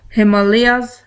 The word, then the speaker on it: Himalaya: In this topic, in the Northern Mountain, we will study about Karakoram ranges and Himalayas ranges. We can also call it Himalayas and Himalayas. Both are correct pronunciation.